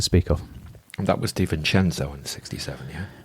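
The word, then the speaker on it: De Vicenzo: revent mens to speak of and that was D chenzo in 67 yeah deis senzo apparently that's how you pronounce it deis senzo thank you pardon no it's fine it's not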